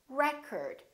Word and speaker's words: record: another word this word if it's a noun it's pronounced as record the first syllable is stressed record this o changes